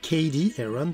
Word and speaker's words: Cady Heron: Alors, Cady Heron, pour bien le prononcer, a 16 ans.